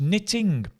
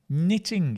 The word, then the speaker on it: knitting: new word which is knitting knitting yeah it's a great word right the K is silent so to knit is